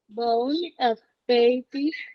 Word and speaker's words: bon appétit: Once again, Bon appetit. perfect. Last letter is silent. We don't pronounce the T.